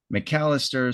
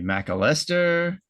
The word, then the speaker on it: McAlester: We had a little discussion of how to pronounce it. McAlester seems like the proper thing. I don't think this will come through, but you know, we said it could be McAlester, or I think the coolest one is McAlester.